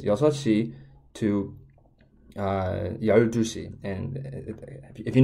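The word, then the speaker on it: 여섯 시: I pronounce this is it's not yuksi and ship ishi. That unfortunately Koreans have two completely different way to say numbers, but instead what you have to say is yosashi to 12시.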